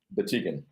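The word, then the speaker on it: Batygin: How do you pronounce Constantine's last name? Batigan.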